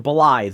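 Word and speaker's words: Blaidd: a shadowbound beast named Blythe. That's spelled Blade with two D's, but it's Blythe. I don't know, Scottish or something.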